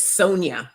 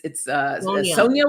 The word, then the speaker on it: Sonja: I know the J throws everybody off, but it's Sonja with a J. Sonja. Sonja. Think of it as a Y. It's not spelled with a Y, but it's spelled with the J.